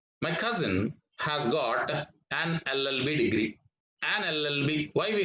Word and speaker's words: LLB: So LLB starts with or begins with the sound of vowel sound of A.